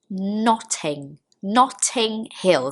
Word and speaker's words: Notting Hill: Notting Hill.